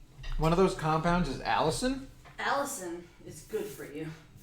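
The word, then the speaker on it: Allicin: I say it wrong I'm pretty sure it's pronounced Allison Allison is the primary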